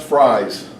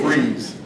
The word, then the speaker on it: Fries: It is not pronounced fries, it's freeze.